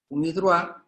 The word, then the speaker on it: UNIDROIT: Mientras tanto, en derecho comercial rigen las reglas de UNIDROIT. UNIDROIT se escribe UNIDROIT, es una sigla, pero se pronuncia en francés.